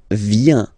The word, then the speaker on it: viens: So the first form is je viens. Je viens, okay? Remember this I, viens, and then this nasal. Final S not pronounced.